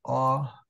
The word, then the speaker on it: opificum: So then we're going to separate opificum. And the stress is on that one.